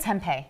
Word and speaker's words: tempeh: How do you pronounce it? Tempeh.